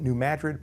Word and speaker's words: New Madrid: the state of missouri i pronounce it new madrid because that's how it's pronounced locally even though it's spelled the same as the city madrid now new madrid had